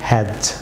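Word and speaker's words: hedge: যেমন হ্যাজ, D silent থাকবে হ্যাজ viewers.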